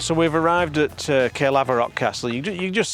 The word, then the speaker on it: Caerlaverock: So, we've arrived at Caerlaverock Castle. You do You just see it over there. Is that the right pronunciation, Roy? Caerlaverock, yeah. Caerlaverock.